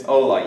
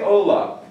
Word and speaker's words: hola: It's not hola, it's not hola, it's hola. You never pronounce the H in Spanish in anything you ever see. So anyway, you say hola, but look real close.